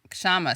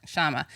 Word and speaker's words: Kshama: to oh sorry shama the k is silent shama i want to is it a problem it's not actually silent but i but you know what even indians find it hard to say it so here you go